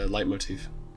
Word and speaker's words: leitmotif: Is that how that's pronounced? I thought it was I think Leet. so. I thought it was like Leet, like the planetologist from Dune. Yeah, not according to my sources, it's not.